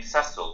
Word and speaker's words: Cecil: And Tanya, I'm delighted because I think it's the first time you've pronounced my name Cassille rather than Cece.